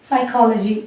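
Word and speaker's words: psychology: இப்போ சைக்காலஜி அப்படின்னு எடுத்துட்டோம்னா இந்த இடத்துல பி சைலண்ட், நம்ம எஸ்ல இருந்து தான் ப்ரொனவுன்ஸ் பண்ணுறோம், சைக்காலஜி அப்படின்னு நம்ம சொல்கிறோம்.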